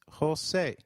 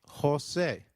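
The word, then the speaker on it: José: the EI in eight the letter J sounds like H in Spanish so try saying Jose it is J you will encounter a lot of joses if you travel to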